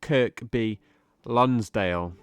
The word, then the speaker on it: Kirkby Lonsdale: But now let's take a look at the pronunciation. Kirkby Lonsdale. And again, Kirkby Lonsdale. Excellent. So now we can take a look at the definition of Kirkby Lonsdale.